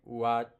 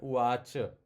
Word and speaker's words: uvāca: That would become something like uvāc. But that a you have to little bit pronounce it. Okay. So śrī-bhagavān uvāca.